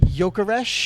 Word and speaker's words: Gyökeres: Gyökeres.